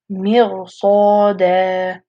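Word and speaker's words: مرصادا: So it's going to be pronounced Mirsada.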